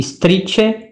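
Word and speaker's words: istrice: syllabes, le mot et la chose strice, prononcé strice, ce qui aura donné dans une correspondance française le hérisson.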